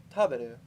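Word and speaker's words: 食べる: And then on the second one, it's the ba is when the pitch is raised. So taberu. You're actually correct that taberu is the correct way to say it. With the pitch on the ba. Well, that's where it drops at the ba.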